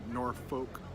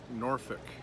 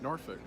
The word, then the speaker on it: Norfolk: age and pronounced that way how do you pronounce the words that are spelled and suf okay so if you say noir folk or soft folk we gotta get slap up the side of that try Norfolk and Suffolk that's how you do it Norfolk